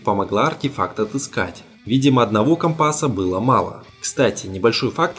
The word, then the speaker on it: компас: Видимо, одного компаса было мало. Кстати, небольшой факт, который я только недавно узнал. Термин «компас» произносится так на суше, а моряки на своем сленге говорят именно «компас», потому и в кино так странно звучит.